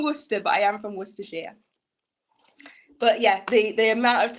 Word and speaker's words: Worcestershire: Some Americans call it wash your sister sauce because they can't pronounce it.